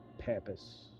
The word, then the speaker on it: Pampas: Um right here at Pampas.